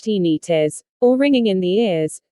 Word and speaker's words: tinnitus: heart palpitations lethargy tinnitus tinnitus pronounced teeny tis or ringing in the